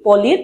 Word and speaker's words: Pauli: আর এটিকে বলে হচ্ছে পলির বর্জন নীতি। কি? পলির বর্জন নীতি বা পাউলির বর্জন নীতি। বিজ্ঞানী পলি, PAULI, এটাকে অনেকে পৌলি উচ্চারণ করে, আবার কেউ পলি উচ্চারণ করে।